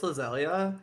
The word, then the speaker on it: Lizelia: I call her Lizelle, but it's Lizelia.